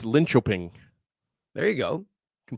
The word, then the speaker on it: Linköping: So we'll I know how to pronounce it's Linköping.